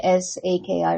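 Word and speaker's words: Psaki: Wasn't it's pronounced because wasn't it like P A S A K I or something? It was pronounced like Saki.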